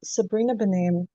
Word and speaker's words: Sabrina Benaim: I think I mispronounced her name, but it's Sabrina Benaim.